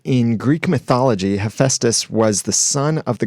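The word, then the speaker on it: Hephaestus: how to say the the hammer guy's name hephestus hephestus okay thank you it's a hard one it's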